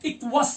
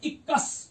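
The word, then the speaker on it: Equus: का modern horse है, इसे कहते हैं इक्वस या इक्कस, इसमें जूलॉजिकल नेम प्रोनाउंस इसे बोलते हैं इक्कस, ई क्यू यू यू एस, इसे इक्कस भी पढ़ते हैं, इक्वस भी पढ़ते हैं, आपके पास ऑप्शन है, जैसे आप इक्कस या इक्वस, हम इसे कहते हैं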